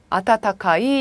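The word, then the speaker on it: 暖かい: 그래서 여기서는 그냥 앞에 거 하나만 따와서 이게 따뜻한 온자니까 따뜻하다 어떻게 읽어요? 아타타카이 이렇게 되는 거죠.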